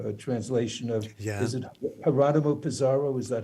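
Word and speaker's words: Jerónimo Pizarro: A translation of, is it Geronimo Pizarro? Is that how his name is pronounced?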